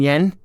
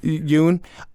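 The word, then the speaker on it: Yeun: Stephen Yen? Is that how you say his name? Or Yoon. Yoon? I'm sorry. Excuse me. Yoon.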